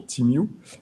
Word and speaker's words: TeamU: Et donc, dès 2020, nous avons pu faire, grâce à notre solution TeamU. Alors, TeamU, ça veut dire We Meet écrit à l'envers, donc ça s'écrit T-E-E-M-E-W.